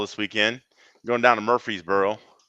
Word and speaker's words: Murfreesboro: weekend going down to murfreesboro murphrees bro yeah remember we got it's you gotta put all the syllables in okay well yeah so